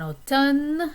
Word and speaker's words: automne: I like autumn, en automne, and notice that the M is silent there.